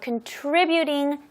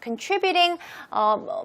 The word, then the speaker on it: contributing: 기여하는 요인은 a contributing factor. Contributing, 발음 조심하세요. 트리 부분에 강세를 하시면 돼요.